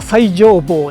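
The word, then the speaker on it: 最上坊: 読み方は最上坊だったみたいですね。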